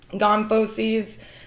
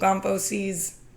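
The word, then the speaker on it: gomphoses: So C over here those are those fibrous tissues and then gmposes. So GMP rhymes with chomp. So remember those are going to be in the face chomping with your face.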